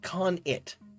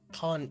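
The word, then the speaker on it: khanate: Oh, Aguma Bear says the domain of a Khan, like Genghis Khan, but pronounced like Khan-it. Khan-it.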